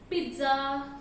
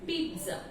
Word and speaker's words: pizza: of this word is pizza. I repeat, the correct pronunciation of this word is pizza. P-E-E-T-Z-A, something like that. So it should not be pizza or pizza. The correct pronunciation is pizza.